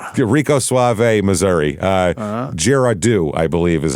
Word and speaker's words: Girardeau: Uh Girardeau, I believe is how you say it. Girardeau, yeah.